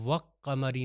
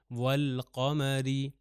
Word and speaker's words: والقمر: ہو جائے گا والقمری۔ اس کو میں وقمری نہیں کہہ سکتا، یہ نہیں ہے کہ لام کو تلفظ نہ کروں قاف کے اوپر شدہ دے دوں، وہ حروف شمسی میں تھا، حروف قمری میں ایسا نہیں ہے، تو یہ ہو جائے گا والقمری۔ نیکسٹ ایگزامپل دیکھ سکتے